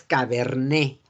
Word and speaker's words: cabernet: Entonces es cabernet. Cabernet Sauvignon. Cabernet. No se pronuncia la T, nada más es Cabernet.